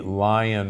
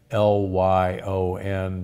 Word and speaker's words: Lyon: which was called the Lion Heart Diet or the Lion Heart Diet, L-Y-O-N, but most from Lyon, France, but most people pronounce it lion.